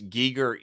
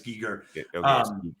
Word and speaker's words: Giger: so frustrating to watch so okay so it's Giger Sable is always on the pronunciation so it's it's G yeah I have a problem with saying gerer even though I know it's Giger okay so interesting backstory Danel Bannon met Giger